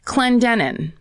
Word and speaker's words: Clendenin: Oh, I didn't look up the okay, I'll just pronounce this how I feel Let's hear it. Clendenin.